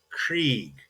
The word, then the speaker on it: Krieg: The name in German for war is Krieg, and that's with that E after the I. So Krieg, der Krieg, is pronounced again with that second English letter, that I and E kind of smushed together.